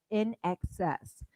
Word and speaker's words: INXS: All right, our next song is by In Excess. How And do you this is spell that, Brenda? In Excess, James. INEXCESS. And this is another Actually, no, that's Australian. not true. Yes, it is. It's INXS.